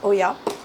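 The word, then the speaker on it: olla: It's written O-double-L-A, but I think it's pronounced Oya.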